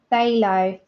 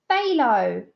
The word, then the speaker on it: phthalo: By saying it rhymes with halo.